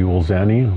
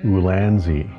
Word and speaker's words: Ulanzi: quick review for the ulani lights that I bought ulani ulani I don't know how to pronounce that exactly but wrong on both counts it's actually ulanzi now back to the